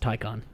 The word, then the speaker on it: Taycan: Tyon. Ty. Tyon. Taken. It's spelled Taken but pronounced Tyon.